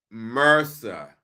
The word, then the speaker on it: MRSA: M RSA is pronounced mercer.